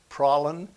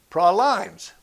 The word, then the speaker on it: praline: contention among pecan lovers some call them pralines some praline some praline some say praw limes the actual correct pronunciation is praline pecans make great ice